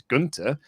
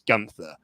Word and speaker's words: Gunther: pronunciation they're going with i know the correct pronunciation is gunter uh we in fact